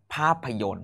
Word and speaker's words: ภาพยนตร์: ง สง เป็น พระ สงฆ์ ต่อ ไป ครับ ภาพยนตร์ สะกด ครับ พอ อา บอ ภาพ พอ อะ พระ